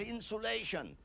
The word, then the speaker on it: insulation: I pronounce that insulation to distinguish it from insolation, a point I made once before on a program, insolation, incoming solar radiation.